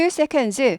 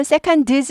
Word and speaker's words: seconds: 초조 초 그래서 2 seconds 2초가 붙죠 1초면 원세 이렇게 되죠 S 안 붙고 발음은 seconds 하지 않고 seconds seconds 드가 발음이 묻힙니다 세드 안해요 seconds seconds seconds 2초